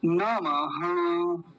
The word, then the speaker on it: नमः: परमात्मने परमात्मने ऐसा नमः ये विसर्ग बन रहा है तो ये विसर्ग आधे ह जैसी आवाज देगा जैसे आधा ह हो तो क्या बोलेंगे नमः नमः ऐसा पूरा क्या